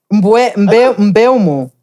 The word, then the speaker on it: Mbeumo: Mbeumo. That's how you pronounce it.